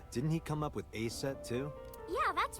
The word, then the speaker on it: Aset: Aset. So about Aset. Let's start there. Horus's mom is named Isis, but in ancient Egyptian, it's pronounced closer to Ise or Aset.